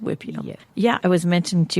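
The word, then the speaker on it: huipil: So, just so our listeners know, it's H UI P I L pronounced Whipio.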